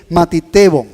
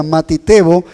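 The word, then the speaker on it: μαθητής: está esta palabra discípulos que es matibo matibo en el griego no se pronuncia matio y es la palabra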